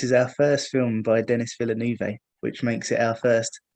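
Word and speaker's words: Denis Villeneuve: our first film by Dennis Villeneuve which makes it our first Dennis but then I realized that his name is pronounced villainy so I had to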